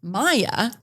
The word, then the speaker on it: Mia: families and it says mia m which is spelled m-i-a and then has it pronounced maya m-y-a it's like why wouldn't